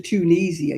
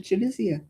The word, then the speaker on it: Tunisia: It's not got ease in the middle of it. It's got an I. It's chisian. You don't go to Tunisia. You go to Chunisia.